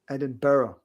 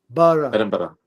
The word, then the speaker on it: Edinburgh: Eden is is four syllables. Edinburgh. Bar. Edinburgh.